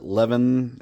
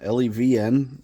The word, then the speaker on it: LEVN: This is the, I guess you pronounce it LEVN, L-E-V-N. It's LEVN, that's what we're going to call it.